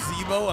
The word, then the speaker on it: Zeebo: It's pronounced Zeebo, amazing.